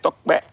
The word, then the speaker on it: Tope: You see the way I said Tokpe Abiodun? I could have said Top Abiodun. Did I say Top? No, because I had to learn how Yoruba people pronounce Tokpe. You think I'm a Yoruba man? I'm not a Yoruba man, but I just pay attention. I know you guys don't pronounce it Tope or Top.